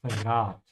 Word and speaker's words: verrat: Be careful with the V, pronounce it like an F. Ja, verrat.